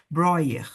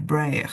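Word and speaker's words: Breuer: Broer, né? Broer, Braer, depende aí de como você quer pronunciar o nome dele.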